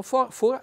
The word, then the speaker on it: fora: Comunque fora che noi ad arco diciamo fora sta per fuori, quindi mi raccomando accento chiuso e poi attenzione questa parte qua.